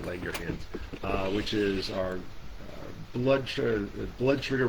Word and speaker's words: Langerhans: You have to say it like a Scotsman when you say the Langerhans, which is our blood